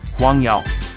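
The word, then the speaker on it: 黄油: Huangyao. Huangyao, oops. It's butter. I'm using butter in Huangyao. That's the way to pronounce them.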